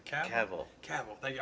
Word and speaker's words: Cavill: Cavill. Cavill. Thank you. I always want to say Cavill, and it's like that's not right, dude.